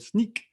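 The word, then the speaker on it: Snyk: integration with a company called sneak not snick as i thought it's partly pronounced sneak um and they also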